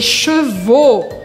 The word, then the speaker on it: chevaux: E aqui mais uma dica de pronúncia, porque é diferente les cheveux, os cabelos, de les chevaux, os cavalos. Les cheveux, les chevaux. Les cheveux, chevaux. Cheveux, chevaux.